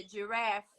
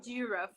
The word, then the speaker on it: giraffe: E na verdade é giraffe. O acento, vamos supor que tivesse na pronúncia, o acento agudo é no A do giraffe, não giraffe, qualquer coisa do tipo assim.